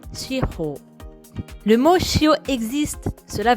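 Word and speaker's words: shihō: Souvent, on prononce shiro en une seule syllabe, shio. Mais en japonais, c'est deux syllabes, shi et ho, prononcées shiro.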